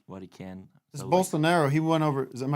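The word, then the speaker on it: Bolsonaro: doing what he what he can this is bolster narrow he went over is am I saying it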